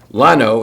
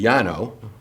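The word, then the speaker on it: Llano: Guadalupe, not that that hard, but Lano is actually Yano.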